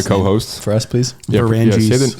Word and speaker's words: Vranjes: Can you pronounce your last name as it's supposed to be pronounced? Vranjes.